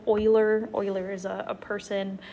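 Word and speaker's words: Euler: rational um it's called Oiler number pronounced like oil Oiler Oiler is a a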